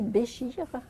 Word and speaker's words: Bécher: On dit Béchir à l'arabe, mais ça s'écrit Bécher.